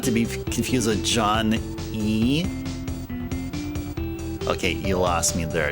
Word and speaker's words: Ys: you pronounce That's not not even how you pronounce ys. It's e, not ease. Not ease. Like if something is easy, you say, "Hey, I can do it with ease."